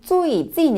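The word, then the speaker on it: 最近: 요즘이란 표현을 중국어로는 最近 이라고 하는데요. 사실 이 最近 은 최근이라는 한자의 중국식 발음이에요.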